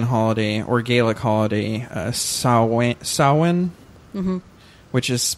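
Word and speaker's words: Samhain: or Gaelic holiday sa saan mhm which is pronounced uh sa but spelled s m ha a i n which looks like Sam Hayne um uh in the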